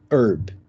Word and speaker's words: herb: dar errado aqui tá porque você fala herb tá aí você vai usar qual artigo vejam herb Umbrella herb mesma pronúncia o som e e de de vogal então o artigo que